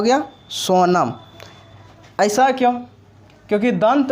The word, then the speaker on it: Sonam: सोनम। ऐसा क्यों? क्योंकि दंत नो का उच्चारण करिएगा तो उसके साथ ओ शब्द आता है, और ओ का इंग्लिश क्या आता है?